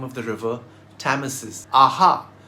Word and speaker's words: Thames: Both Isis and Thames are derived from an older name of the river, Thamesis. Aha! There was originally no H in the name.